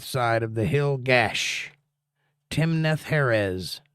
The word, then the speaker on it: Timnath-heres: Timnath-Heres is how you say that.